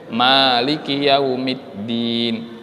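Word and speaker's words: مالك يوم الدين: Beda dengan surah Al-Fatihah. Kalau pada surah Al-Fatihah kita membacanya maknya panjang, Maliki yaumiddin.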